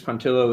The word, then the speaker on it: Pontillo: know about you pontillo is that your last name kind of rhymes with armadillo yeah true or false